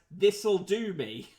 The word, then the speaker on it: Thistledome: advise my office that we were mispronouncing the name of his house which he said should be read as this'll do me there we go okay